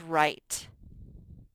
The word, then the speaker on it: right: our next word is right right and it has some silent letters this g and h don't sound they just make the i say its name i write right you